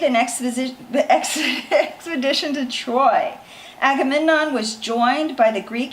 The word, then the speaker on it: Agamemnon: I love news okay Menelaus convinced his brother Agamemnon okay so I want you guys to remember how to say these words I might throw them up Menelaus you say that Menelaus conviction convinced his brother Agamemnon Agra Midna Menelaus magaman on the king of